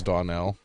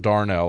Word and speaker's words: Donnell: She's white, even though her name's Donnell. Some say that it's pronounced Darnell, and I was like, "There's no R." That's racist. There's no R in that word.